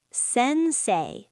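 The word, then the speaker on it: 先生: It's okasan or sensei. Teacher sensei. Sensei. Sensei. The ei makes a long a sound or coco high school.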